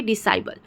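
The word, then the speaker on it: disciple: यहाँ पे डिसाइबल जो है वहाँ पे भी हम जो है कि सी का उच्चारण नहीं कर रहे हैं, सिर्फ एस का उच्चारण कर रहे हैं।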